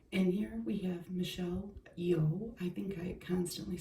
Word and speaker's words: Yeoh: here we have Michelle yeoh I think I constantly say her name wrong but I think you just say it yo like yo yo sir but look at her